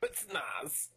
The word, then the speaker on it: Spetsnaz: Speaking of the, I'm gonna butcher it, the Spetsnaz? Is that how you say it? Spetsnaz. Pretty close. Spetsnaz. What motivated you to bring them into the fold later?